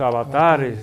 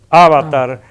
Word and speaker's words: avatar: su vida Eso es Avatar como dicen de la película con el acento en la primera a que nosotros decimos Avatar y en plural avatares